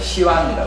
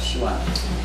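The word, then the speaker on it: Xi'an: 그래서 이제 거기가 서안이라고 하는 서안인데 이제 중국식 발음을 시완이라고 해요. 시완.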